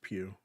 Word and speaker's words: Pugh: And Florence Pugh. Pew Pew. That's right.